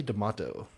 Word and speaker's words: D'Amato: D'Amato. Like tomato? Yeah, I would prefer D'Amato, but yes, it rhymes with tomato.